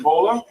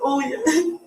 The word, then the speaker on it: Olia: Bola? It's Olia.